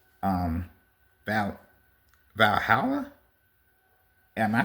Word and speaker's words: Valhalla: version of heaven which is called um Val Valhalla. Am I pronouncing that right? Yeah, it's it's it's B it's Valhalla.